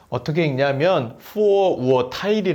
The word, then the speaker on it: Vorurteil: 'Vorurteil' 로 발음 됩니다 . 'Vor-ur-teil'.